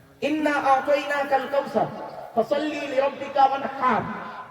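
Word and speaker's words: وَانْحَرْ: ইন্না আতাইনাকাল কাউসার ফাসাল্লি লিরাব্বিকা ওয়ানহার। ওয়ানহার এই গলার ভেতর থেকে এটা উচ্চারণ করবেন।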